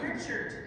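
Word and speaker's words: Richert: It's Richard. It's not Reichert.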